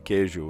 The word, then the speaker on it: queijo: D-E, and in Portuguese, D-E makes a J sound at the end of a word. And then queijo is Q-U-E-I-J-O, queijo.